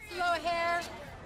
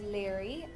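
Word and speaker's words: Laoghaire: How would you pronounce that? Slow hair. Lear. And long hair. Leghorn! My character's name is Leary.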